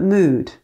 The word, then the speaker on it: mood: We say blood, but mood.